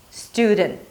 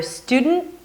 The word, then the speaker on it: student: If it's too difficult, you can release slightly the D. Student. So either student or student. Both are okay.